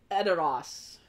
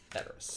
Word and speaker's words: Edoras: Correct answer is, of course, Edoras. Okay. Edoras. That was scary. Or Edoras, if you want to be all fancy. Edoras. That's how they say it in the movies.